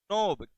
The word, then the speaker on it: knob: Synaptic नोब, KNOB, इसमें के silent रहेगा।